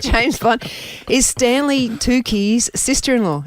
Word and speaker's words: Tucci: Is Stanley Tucci's sister-in-law. Is that how you say his name? Oh, Mitch? Tucci. Yeah, Tucci.